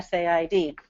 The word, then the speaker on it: said: when did said change from sa yed to sid there's an assumption in